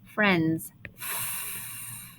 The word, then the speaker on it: friends: one talking vowel sound friends now this part is the tricky part because this eye is actually silent we don't hear f i or f no it's silent we here this